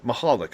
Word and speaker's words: Michalak: gentleman named Stephen Pollock Halleck michalak Michalek I'm trying to think of the NHL pronunciation it's a good polish name mahalik yeah mahalik I believe and you were telling